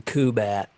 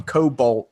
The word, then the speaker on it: Kubat: talk about orkap I I have to make sure I say his name right I got it wrong on the podcast but yeah call him Kubat too bad I called us calling him Cobalt at first but yeah I know